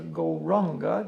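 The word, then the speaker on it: Gauranga: For this meditation, we use the mantra Goranga, divided into 4 syllables, Go-Ra-Anga.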